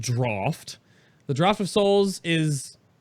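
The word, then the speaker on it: Draught: the draft of souls it's not drought it's pronounced draft the draft of Souls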